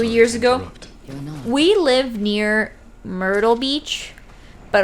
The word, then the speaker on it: Myrtle Beach: ago we live near myrtle beach but our parents pronounce it moro beach myrtle beach i thought